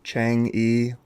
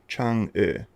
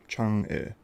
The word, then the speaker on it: Chang'e: Most times you'll hear it called Chang'e or Chang'e, but that's not correct. According to the Chinese, their goddess of the moon is called Chang'e. So, Chang'e.